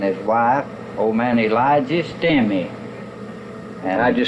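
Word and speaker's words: Stamey: wife, old man Elijah Stemmy. How'd you spell that last name? S-T-A-M-E-Y. Sammy, you might call it. They call him Stemmies there. Stemmies, but it was an A.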